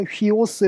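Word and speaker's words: υἱός: 식으로 해서 이렇게 이제 이렇게 숨표가 이렇게 하는 게 아니라 반대편으로 이렇게 하면 이게 흐 발음이 나거든요. 그래서 휘오스 이렇게 쓰는 것을 볼 수 있어요.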